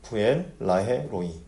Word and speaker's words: 브엘라해로이: 브엘라에로이 이게 발음하기가 좀 애매한데 브엘라 헤로이라고 읽어야 되는지 브엘라해로이라고 읽어야 되는지 이거는 두 단어씩 끊어서 읽으면 돼요. 부엘라로이 이렇게 되는데 그 뜻이 뭐냐면 부엘은 뭐냐면 우물이라는 뜻입니다.